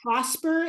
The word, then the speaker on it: Prospre: I use an app that's called Prosper, and it's spelled Prospre, not PER, but PRE. The logo is it's purple, purple and white.